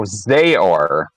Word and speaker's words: zhor2000: Because I believe Zora was the one that went to River. Yes. Oh, Zayor is apparently the pronunciation. According to the runner survey.